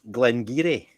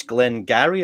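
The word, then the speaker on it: Glen Garioch: utterly wrong you know one in particular um glenn geary right but she thought she was being really clever cause that oh i can pronounce gaelic words but it's not gary gaelic it's doric which is a different language and she's going it's glenn gary or no it isn't it's glengarry because you're reading it as though it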